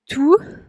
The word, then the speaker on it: tout: On oublie tout. Tout, como ven, la T al final no se pronuncia.